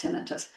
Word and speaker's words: tinnitus: and it's always pron well it's pronounced tinitus if you go online you will find references to both pronunciations I just I'm going from my training and working at University of Michigan hospital this is how it's pronounced in those settings.